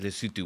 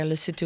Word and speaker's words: Lesotho: Yeah, if you don't include Eswatini and Lesotho, which is sort of inside South Africa. Within the borders there, yeah. How do you pronounce it? Eswatini and Lesotho, how do you pronounce it? Yeah, that's right. Lesotho?